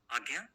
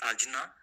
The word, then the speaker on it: Ajna: This pronunciation is Agnya. Many people also pronounce Ajna, but Agnya is the right pronunciation in Sanskrit.